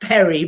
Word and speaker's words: peri: It's pre, but it's pronounced peri, but it's pre. Bit like peri peri chicken, I guess.